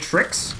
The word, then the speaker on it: TRXD: at the end there how do you pronounce trxd is it tricks is that the easiest way to say it or yeah it's just yeah it's true tricks yeah tricks with another